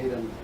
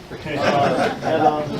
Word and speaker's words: Hadon: I enjoyed the first two, the Hayden had books when they. Adon, yeah. Let me say had it. Had on the books when they.